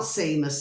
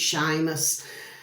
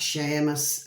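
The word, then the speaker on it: Séamus: spout the Irish way but that's how you pronounce it it's not Seamus it's Sheamus so it's spelled c s e air and then Moss m-u-s so they spell it like that Sheamus okay uh and Earl had the shared goal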